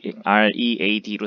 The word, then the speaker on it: read: 그래서 read, R-E-A-D로 쓰지만 읽는 것은 read로 읽어야 되겠고 spend는 우리가 쓰다, 소비하다라는 뜻인데 spent로 봐야 되겠지.